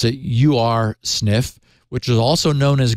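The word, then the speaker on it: Ursnif: I'll I'll pronounce it you are sniff which is also known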